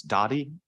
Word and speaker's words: Dowdy: I learned that the proper way to pronounce this street is Dowdy.